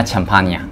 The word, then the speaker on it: Ciampagna: 哦，那如果连意大利语的发音啊，就是叫做安吉拉 · 强帕尼亚。